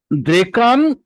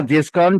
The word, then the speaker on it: द्रेक्कन: द्रेकान, द्रेकान या देशकान जो भी बोले आप, अलग अलग उसके ये हैं। हिंदी में देशकान बोले जाते हैं, वैसे संस्कृत में उसके ओरिजिनल उच्चारण जो है द्रेकन।